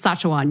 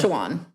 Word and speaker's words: Sachajuan: Besides Jones Road, okay, I'm going to pronounce it wrong, but there's a hair product line. I heard your recent. It's Sachajuan. You were right when you said it. Sachajuan.